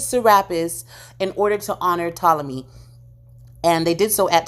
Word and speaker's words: Ptolemy: The P is silent. In honor of Ptolemy.